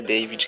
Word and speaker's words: David: só, só antes, tipo, a pronúncia do meu nome mais adotada é David, que se chama.